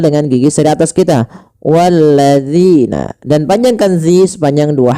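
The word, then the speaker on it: وَالَّذِينَ: sini pada lafal zina hati-hati di dalam melafalkan huruf dal jangan sampai kita membacanya menggantinya dengan huruf zai misalkan walladzina ah ini salah kenapa karena dia merubah huruf dal menjadi huruf zai Bagaimana cara mfalkan huruf dalal?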